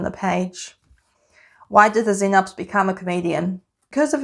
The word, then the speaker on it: Xenops: And I spent such a long time trying to find a joke that even related to a Xenops.